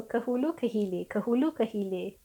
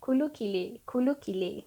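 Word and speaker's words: ke hulu ke hilir: Okay, so kehulu kehile. Or the way I pronounced it, kulu kile.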